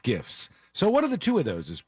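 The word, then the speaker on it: SCIF: before that said it's sensitive compartmented information facilities pronounced Skiffs so what are the two of those is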